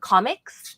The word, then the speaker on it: Comic X: Yesterday, we randomly went to, there's this restaurant locally called Comics. I didn't know they pronounced it that way because it's spelled Comic X.